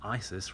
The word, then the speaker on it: ISIS: territory and discovering that Isis rhymes with crisis and like those still